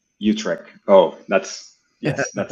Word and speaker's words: Utrecht: Uh, I'm I'm Martin is sending in from I'm going to butcher the name of the city. Uh, Utrich.